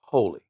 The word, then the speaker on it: Holi: is called holy and they give you a little in parentheses how you say it so it's h-o-e-l-e-e so that's how the game is pronounced holy here's an overview every